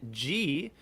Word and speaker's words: Ghee: how about that we have a j harrison g uh which we just learned is the correct pronunciation of their name um uh which we